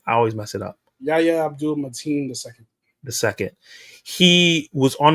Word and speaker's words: Yahya Abdul-Mateen: I don't know if you saw the interview, but Yahya Abdul-Mateen is how you say his name. I always mess it up. Yahya Abdul-Mateen the second.